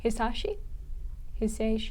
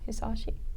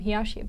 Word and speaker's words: Hisaishi: Hisaishi? Hisaishi. Yeah, I was calling him Hiyashi, but that's not how you say that name.